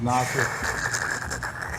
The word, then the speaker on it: Nasir: Yeah, it's pronounced Nasir. Call me Nas.